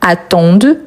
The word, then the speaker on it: attendent: Attendent, donc on prononce le D. Pourtant, ENT à la fin, en tant que verbe, on ne le prononce jamais.